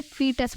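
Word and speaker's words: fetus: हमें इसे फोर्टस नहीं बोलना है, हमें इसे फीटस बोलना है। बहुत से बच्चे फोर्टस भी बोलते हैं, वो रॉन्ग प्रोनाउंसिएशन है।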